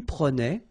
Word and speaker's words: prenais: So same thing here, final S not pronounced. Je prenais, tu prenais, il prenait, final T not pronounced, so the same form, okay?